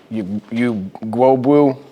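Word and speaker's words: Ugwoegbu: You know, defensively, you know, David, Dora, how do you pronounce his last name? Gwobu.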